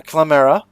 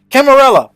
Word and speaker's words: Carmilla: a woman named uh clamera a camelot sorry clara carmilla do i pronounce this uh camarella there it is i figured it out and this is